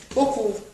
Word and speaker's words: beaucoup: Mas, Luana, tem o P, não se pronuncia beaucoup.